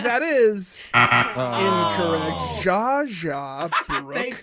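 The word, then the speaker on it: Zsa Zsa: z z Alex said Za a a Za AA that is incorrect Jaja Brook it's spelled Zsa space Zsa oh the S is silent have you really never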